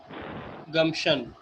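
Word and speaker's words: gumption: अच्छा, अकल को कहते हैं गम्शन। You have गम्शन। Assumption. गम्शन मैंने आप लोगों को वोकैबुलरी भेजी है, देखें मैसेज पे, इनबॉक्स में, इसके चैट पे। अच्छा जी जी, गम्शन पी जी, साइलेंट हाँ, होगा, हाँ।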